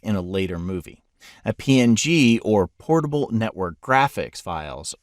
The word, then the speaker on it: PNG: a later movie a png or portable network graphics files often pronounced as pings are kind of hybrid